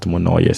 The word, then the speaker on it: Monoyer: Pastor, Pastor, Monoyer, Monoyo, or pronounced Monoyer.